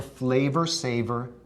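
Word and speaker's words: Flavr Savr: It was called the Flavor Saver tomato. That's spelled F-L-A-V-R-S-A-V-R, Flavor Saver.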